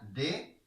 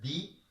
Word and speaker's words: the: Recuerden muy bien, se pronuncia de cuando va seguida de una consonante y se pronuncia di cuando va seguida de una vocal.